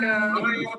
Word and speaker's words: मया: भगवान का मया मया होगा ना, माया नहीं होगा। ट्रांसलेशन में दिया है बाय मी, मेरे से। मया मैं ही लिखा प्रभु जी, मया लिखा है ना। मैं प्रोनाउंसिएशन में माया बोला। मया।